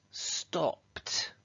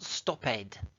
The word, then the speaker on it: stopped: Now, if the verb ends with those sounds, then what we do with the ed is we say it like a t. So stop becomes stopped. It's not stop-ed. We never say ed in English.